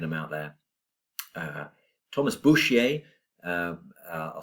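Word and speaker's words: Bourchier: Uh Thomas Bushier. Uh I'll spell that for you.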